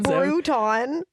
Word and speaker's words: Bruton: Bruton. Like Crouton, I'm telling Yeah, you.